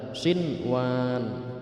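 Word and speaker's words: صِنْوَانٌ: Jadi membacanya tidak boleh siwat, siwan. Non mati bertemu non mati dimasukkan ke huruf waw, itu tidak boleh. Jadi harus dibaca jelas, harus dibaca izhar shinwan, wa zar'un wa nakhilun shinwan, dan banyak contoh-contoh lainnya.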